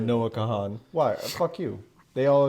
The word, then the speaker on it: Kahan: Kahan. I know it's how it's spelled, but don't do that.